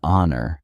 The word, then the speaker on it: honor: pronounced, an air, an honor, an hour. In these cases, the H is silent.